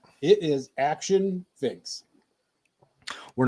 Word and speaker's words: Akxion: It's still Akxion.